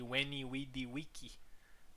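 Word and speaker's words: veni, vidi, vici: So it's actually Weny wei wiki in the Latin.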